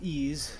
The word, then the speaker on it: EES: EES which is pronounced ease is an acronym for